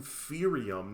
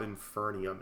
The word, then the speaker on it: Inferium: I've been saying it wrong this whole time. Inf Oh, it's an inferium. Not Infernium. Inferium.